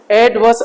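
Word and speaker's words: adverse: कैसे पढ़ेंगे एडवर्स एडवर्स रा आर साइलेंट है एडवर्स एड एडवर्स एड एडवर्स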